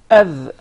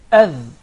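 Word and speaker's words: ذ: This time we put the tip of the tongue just underneath the incisive.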